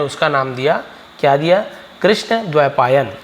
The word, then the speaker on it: कृष्ण: says Parashar name him कृष्णा तो इसे हम ऐसे बोलेंगे कृष्ण है ना और यहां